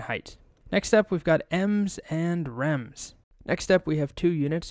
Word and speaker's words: em: parent's width and height next up we've got m's and rams next up we have two units